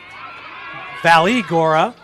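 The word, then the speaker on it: Waligora: Spelled with a W. Valigora. Appreciate Lawrence Tech the pronunciation guide.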